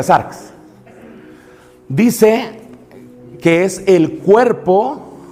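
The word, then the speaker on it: σάρξ: Y así se pronuncia sarx.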